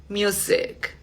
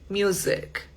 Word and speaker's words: music: Bueno, otra que de pronto tendemos a pronunciar mucho con S y es la palabra música. Esa tiene también sonidito de Z. Music. Music.